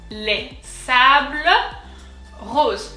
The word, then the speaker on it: Les Sables Roses: Les sables roses. So we've already seen this word. So here, the S is silent because it indicates plural.